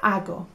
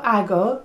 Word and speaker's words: hago: Okay, so it sounds like a little bit like ago, like 3 years ago. Well, it doesn't sound like that. It's hago, okay? And it's spelt with an H. But it's not hag. There's no hags here. It's hago. Yo hago.